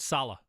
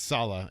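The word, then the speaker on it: Saleh: if you could Robert Salah Eddie you were going with it is Salah you said Sal so I kept doing it s right Salah like does sound like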